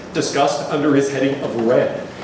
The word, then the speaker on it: Ren: The question of character is discussed under his heading of Ren. Some older transliterations have J-E-N, Jen, and which is a more accurate pronunciation. Depends on the region of China. Really, it's somewhere in between, if you think.